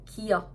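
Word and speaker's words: 기역: Ini tuh mirip dengan huruf G di bahasa Indonesia kan. Cuman beda cara pelafalannya. Kalau G dalam bahasa Indonesia itu tegas kan dan jelas. Terus ada penekanan di sini. G, G, gitu. Atau ga, ga.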